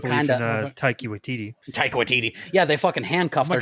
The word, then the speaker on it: Taika Waititi: Taika Waititi, yeah, they fucking handcuffed their God, directors.